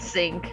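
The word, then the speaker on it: Psync: I hate that it's pronounced sync. Why? Silent P doesn't work this way.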